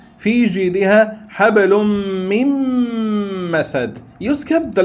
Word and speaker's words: من مسد: therefore what happens is you remove the Noon and pronounce it with another Mim.